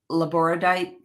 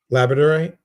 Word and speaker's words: labradorite: um, or the I think I'll pronounce this the right way. Laboradite crystal. This one? Yeah, Labradorite? Yeah. yeah, labradorite.